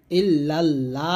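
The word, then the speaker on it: إلا الله: দেখুন লা ইলাহা তারপর ইল্লাল্লাহু ইল্লাল্লাহ না বলে ল বলবেন ইল্লাল্লাহু মুহাম্মাদুর গুণনা করবেন এখানে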